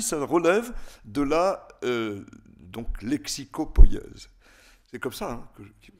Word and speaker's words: lexicopoïèse: Je le dis en 2 mots parce qu'à mon avis, ça relève de la donc, lexicopoïèse. C'est comme ça que je le prononce.